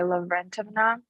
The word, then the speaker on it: Lavrentovna: It's originally but I go by Lavrentovna. Lavrentovna. Oh, okay. That's an interesting pronunciation.